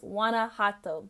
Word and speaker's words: Guanajuato: the beautiful Mexicans watching I've been butchering the pronunciation of this city it's Wana hot sorry take a shot every time I say it wrong first stop of the